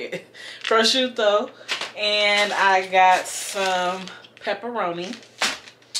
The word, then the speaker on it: prosciutto: my meat i have prosuka prosciutto prosciutto that's how you say it prosciutto and i got some